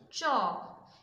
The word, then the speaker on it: chalk: The first one is chalk. CH makes a sound CH, A has a sound A, L has a sound U, but L is silent here, and K has a sound K.